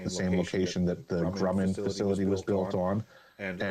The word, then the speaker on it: Grumman: So it's a German history for that area, and it seems that the German engineering, the correct pronunciation of the company that built the lunar module is Grumman.